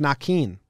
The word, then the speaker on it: Naquin: Naquin. Next. Yep. Okay, here's something. His name is pronounced Nakin.